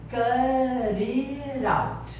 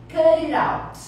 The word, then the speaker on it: cut it out: Então, olha a pronúncia, cut it out. Então, aqui o T e o I você vai ter o somzinho de R, e o T e o O também o som de R.